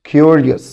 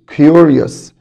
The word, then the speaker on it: curious: curious يبقى اليو هنا بتنطق فول يو، كيو curious curious.